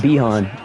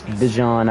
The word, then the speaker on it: Bijan: oh yes sad I'm used to calling it beehan because I never heard his name pronounced but I know it's Bijan I just don't ever